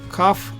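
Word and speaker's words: כּ: But once dot is there, it becomes softer. It's pronounced as ka.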